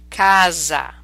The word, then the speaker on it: casa: make that Z sound cosa spezzo dosa DeFazio Casa Paraiso pie is a Azam a so when